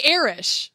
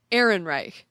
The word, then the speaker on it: Ehrenreich: And I want to say Erish because we know Erish. Erish, exactly. So I get confused, but it's Alden Ehrenreich.